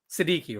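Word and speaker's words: Sidiqui: Sadiki. Right. Yeah. So, Siki is spelled S I D I Q UI.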